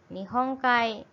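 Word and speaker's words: 日本海: Nihong Kai. Jadi artinya apa? Laut Jepang ya. Kemudian ada digabung juga berarti bacanya Kai.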